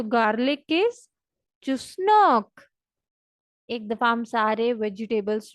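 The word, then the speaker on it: чеснок: जैसे चुस मारना तो आपको पता ही है, मतलब कि आप कोई फजूल बात करते तो हम कहते हैं यार चुस मत मारो, फजूल बातें मत करो। और नॉक मीन्स दरवाजा खटखटाने वाला, इंग्लिश वाला नॉक।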